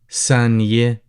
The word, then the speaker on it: ثانية: ثانية بس. Obviously, as you see here, the letter tha, as in the th and thank you. So you could pronounce it ثانية.